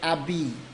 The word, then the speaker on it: habit: for example uh um when you say abby uh a b in french which is spelled habit h h a b